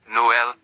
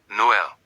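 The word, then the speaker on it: Noël: two dots. This means pronounce the vowels separately. Noel Noel. Two syllables.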